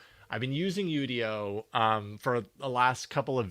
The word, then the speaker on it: Udio: Um, so so I've been using Udio, which I think is the correct pronunciation is Udio. I've been using Udio for the last couple